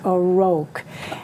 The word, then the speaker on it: O'Rourke: I always say O'Rourke, and it's O'Rourke, and I want to say it right.